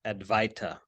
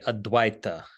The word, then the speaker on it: Advaita: So the word non-duality is formed on the basis of the Sanskrit term Advaita, commonly mispronounced Advaita, but it's actually Advaita.